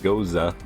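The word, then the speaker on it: Gose: how to pronounce this it's spelt g-o-s-e i'm pretty sure you're supposed to pronounce it goza like a german-style beer but here's that here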